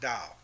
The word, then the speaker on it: Tao: Like he talks about Tao, which is spelled T-A-O.